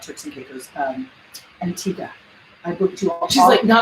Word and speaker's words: Antigua: And we say, Americans say Antigua. I make it very nice. No gua. Antigua. Just, it's no gua.